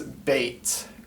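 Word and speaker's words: بيت: The way it's pronounced is bait. Bait. You hear that? Bait.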